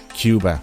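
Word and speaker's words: Quba: look on your face it's actually a city here in aaban Cuba and it's spelled with a que this city is at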